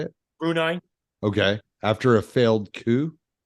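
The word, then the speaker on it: Brunei: China November of 2015 situation and Bui oh brunai okay I'm sorry how do you say it brunai okay after a failed coup I don't think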